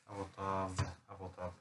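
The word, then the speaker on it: אֲבוֹתָיו: Av den sista bokstaven, hur uttalar vi den? Ett V. Säg inte J då. Avotav.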